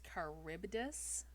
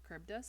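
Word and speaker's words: Charybdis: Um, apparently to pronounce that creature's name, it's Caribbdus. Caribbdus.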